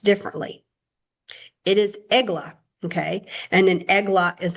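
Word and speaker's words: עגלה: So there is another word that is written Ayin Gimel Lamed Hey, but it has different vowel pointings, but it's pronounced differently. It is eglah, okay?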